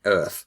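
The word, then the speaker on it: Oerth: to pronounce that is you imagine a person with a strong New York accent saying Earth o o yeah that's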